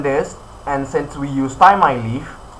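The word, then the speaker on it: Thymeleaf: And since we use ty leaf, ty leaf or ti I ty leaf. Yes, let's just say it's ty leaf.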